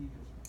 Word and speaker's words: either: You can pronounce them, both of them, 2 different ways, and all of the ways are correct.